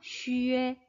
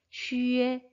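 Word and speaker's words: xue: 젊 2개나 알려주셔야 된다구요 발음은 그대로 읽으시면 됩니다 쉬에 쉬에 ok 이제 넥스트 표기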